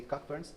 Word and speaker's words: Cockburn: You can also say Cockburns, but it will be more like an American pronunciation.